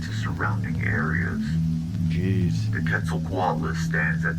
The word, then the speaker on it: Quetzalcoatl: The Quetzalcoatlus stands at 6 Quetzalcoatl.